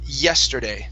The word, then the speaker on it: yesterday: so um first up the pronunciation of the word yesterday so instead of je yesterday okay give me a good why here yesterday try that no yeah yeah try